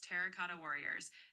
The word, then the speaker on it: Terracotta Warriors: It's Terracotta Warriors.